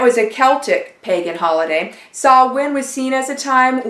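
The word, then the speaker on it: Samhain: h AI n but it's pronounced saw win and that was a Celtic pagan holiday saw win was seen as a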